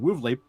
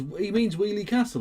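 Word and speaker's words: Weoley Castle: Okay, so he means Wheelie Castle again. So he's pronounced the area of Birmingham called Wheelie Castle as Wesley Castle and Wolverley. There isn't an S or a V in the name.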